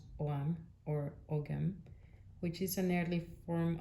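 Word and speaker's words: Ogham: shows the symbols called ogam pronounce Oram which is an early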